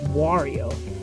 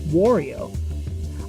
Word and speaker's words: Wario: This, and the fact that you pronounce Mario the same way, but with the W, should lead you to believe that the pronunciation is Wario. However, some are convinced that it's pronounced Worio.